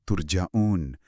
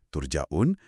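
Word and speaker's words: turja'un: Mayoritas ulama qiraat bacanya turjaun pakai u bentuk pasif.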